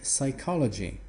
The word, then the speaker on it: psychology: Соответственно, психология читается как psychology. И вот это P, которое есть на письме, оно никак не произносится, его там нету.